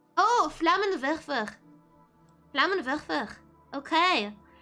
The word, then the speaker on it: Flammenwerfer: Flammenwerfer. Oh, Flammenwerfer. Flammenwerfer. Okay. So W is pronounced V.